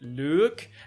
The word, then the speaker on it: Luc: But when I Googled it, it was like, how to pronounce these French names, and I watched the video, because of course I'm going to, I've got to hear it, and he's like, you can pronounce it Luke, and I was like,